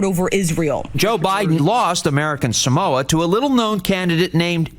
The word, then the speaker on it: American Samoa: he had one thing going for him: correct pronunciation. Talofa lava. I'm Jason Palmer. American Samoa, I'm asking for your vote in the Democratic caucus on March 5th. Yeah, American Samoa.